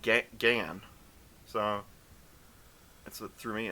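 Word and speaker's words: Gehn: something guy uhuh right gen oh they pronounce it like G gan so that's what threw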